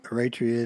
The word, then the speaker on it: Eritrean: Eritrean? Eritrean.